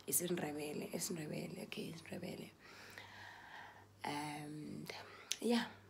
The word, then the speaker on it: isiNdebele: Yes, you're gonna pronounce it like that. isiNdebele.